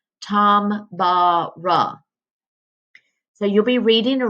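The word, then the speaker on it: Tambora: bruh it almost looks like it would be Tamara but I looked it up and it tells me down here in the parenthesis that it's pronounced Tom bara so you'll be reading a rap about mount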